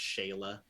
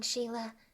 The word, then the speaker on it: Sheila: never forget me uh it's actually an e i that's what i wrote cool what so like it could also be pronounced organically it also could be pronounced shayla depending on who you are i before e except